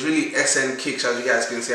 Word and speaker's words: SNKICK: video now so okay yeah i've been saying snake kick but like honestly that's like like the easiest way to pronounce it but it's really sn kicks as you guys can see at the top